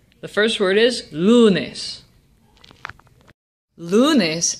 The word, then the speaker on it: lunes: first word is Lunas lunes ends in a consonant but the consonant is s or n which means that lunes is a Jana word and the emphasis is on the second to last syllable lunes and since the emphasis really is on the second to last syllable we don't need an accent now let's try the